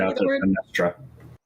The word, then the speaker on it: Benestria: Her name was Benestria? I think I'm saying that right. I pronounce it Benestra.